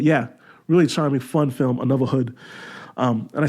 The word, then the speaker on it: Anuvahood: Another Hood is essentially it's spelled ANUVAHOOD. Another Hood.